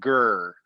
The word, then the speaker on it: ger: the mongolian style tent in mongolia they say ger but g-h-e-r is how they spell it but and this is